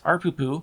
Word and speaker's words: ARPU: a user is $2, ARPU, and that is actually how people pronounce it, is $8, and which means we have a profit of $6 per user.